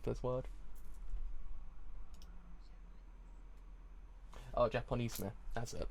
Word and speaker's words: Japonisme: Correct pronunciation for this word. Oh, Japonisme. That's it. Japonisme.